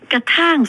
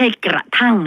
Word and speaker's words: กระท่าง: สระ อำ ไม่ โธ คล้าย ๆ ท่าน ท่าน น่ะ แต่ เป็น ท่าง ไม่ ใช่ กระทั่ง นะ คะ กระท่าง น้ำ คุณ ผู้ ฟัง